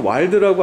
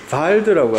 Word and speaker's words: WALD: 일본에서는 와일드라고 안 하고요, 바일드라고 합니다. 독일 발음으로 해요. WALD인데 바일드라고 하는데요.